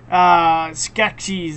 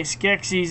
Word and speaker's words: Skeksis: But that's okay, Skeksis, that's what you say, Skeksis, and the Garthen!